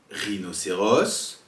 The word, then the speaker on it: rhinocéros: Deuxième possibilité, un H, par exemple dans le mot rhinocéros ou encore T. Mais généralement, on ne prononce jamais le H et il est souvent